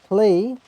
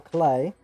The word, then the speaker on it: Klee: Klee or Clay is her. I think is Japanese translated to English name is actually Clay.